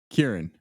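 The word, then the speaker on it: Ciarán: Kieran, but it's spelled way different than like Kieran Culkin. I've just always heard it's Kieran Hines.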